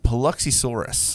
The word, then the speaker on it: Paluxysaurus: It is the Paluxysaurus. Hey, there we go. Paluxysaurus. Because I don't it know is the Paluxy. It's not. Okay. The Paluxy from Biloxi.